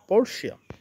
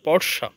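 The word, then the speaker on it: Portia: with wealthy lady name পরশিয়া তো এখানে আমি যদি সঠিক উচ্চারণটা বলি উচ্চারণটা হবে পরসা তো একবার এরকম হল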